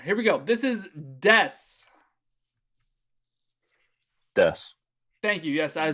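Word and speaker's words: です: of like a verb notice how there's no oo it's not desu you can actually pronounce the ooh just like you can pronounce the masu but we never do almost so des this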